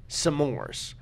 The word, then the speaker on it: s'mores: the full sum, but he pronounced it like it actually is supposed to be. Yeah. I feel like as a society, that word has been around so much, it's just s'mores.